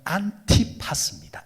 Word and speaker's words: 안티파스: 이름이 참 재미있는 이름이에요 이 안디바라는 이름이 원래 이제 발음으로 하면 안티파스입니다 안티파스 안티파스는 두 단어로